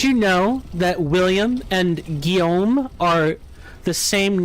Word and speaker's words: Guillaume: Guillaume. Guillaume.